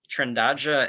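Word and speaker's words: Trindade: that it was uh trindaja petrol um if you're confused about the pronunciation uh everybody is so don't feel bad about that trandaja is the portuguese word for trinity and it's it's named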